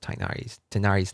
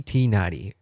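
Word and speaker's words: Tighnari: that the English dub pronounces Tainari's name like that. It's supposed to be Tinari, but for some reason they pronounce it Tainari in the English dub.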